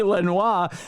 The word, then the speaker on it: Lenoir: Lenor Lenoir. It should be Lenoir. That That's the French pronunciation, but it's probably Lenoir uh County Jail.